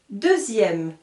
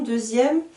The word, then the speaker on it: deuxième: de lille hier deux sous les lits ma deuxième alors attention deuxième ça s'écrit comme ceux-ci deuxième d eux une x